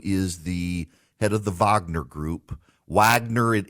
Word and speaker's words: Wagner: the head of the Vagner group Wagner it it's spelled like Wagner it's pronounced Vagner it's a mercenary company